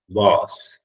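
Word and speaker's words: vase: inside it right you can call it a vas the pronunciation is vas V okay yeah flow was is on the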